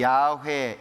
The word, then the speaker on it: 여호와: 그래서 하나님의 이름이 성경에는 여호와 이렇게 되어 있죠 어떤 분 종실하고 되게 좋아하시던데 하나님은 여시 아닙니다 여호와라고 하는 말 어떤 곳에서는 야훼 이렇게도 표현을 하는데요 발음 상차입니다 여호와라고 하는 이름 속에는